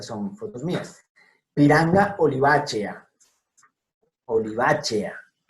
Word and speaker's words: olivacea: Y ojo, E con A, E-A. No es A con E lo que está aquí, que sería E. Es E con A, entonces por tanto, olivacea.